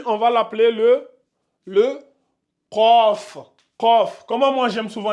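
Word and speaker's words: قاف: deuxème a comme ça c COF c'est ici au niveau de la gorge COF vous devez mettre mettez vos deux doigts au niveau de ici là votre pomme d'Adam là vous allez sentir vibrer quand vous allez le prononcer ça donne C vous ouvrez bien la bouche c c donc c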